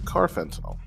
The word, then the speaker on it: carfentanil: be the synthetic opioid carfentinel just add the word car in front of the word fentinol I promise you you